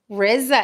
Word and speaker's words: Rizza: think that Rizza Islam his name is Reza it's not as Risa that's how it's pronounced everybody calls him Rizza but it's not Rizza it's Riza black black people particularly southern